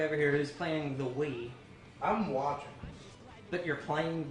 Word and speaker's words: Wii: The Woo. Okay. The Woo is the Wii. We just call it the Woo because one of us mispronounced Woo one day.